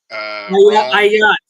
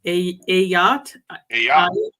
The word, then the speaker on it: Ayat: Ayat. He corrected me the last time. Ayat. Ayat. Look, out there on the water, it's a yacht.